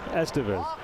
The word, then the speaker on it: Estevez: Although he pronounces it, yeah, Estevez.